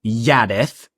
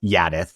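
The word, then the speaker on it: Jaddeth: Um he he name drops his god here which is um holy yadith. Um it's spelled with a J but words of Brandon has confirmed that it's pronounced with a Y. It's Yadith.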